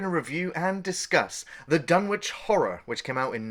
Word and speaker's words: Dunwich: will call it the Dunwich, or the town of Dunwich, but it's actually pronounced Dunwich, like Greenwich Village.